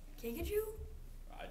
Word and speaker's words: kinkajou: The other one was the kinkajou? I don't know. It's the same. Yeah. Yeah? I don't okay. know how to say it. Kinkajou.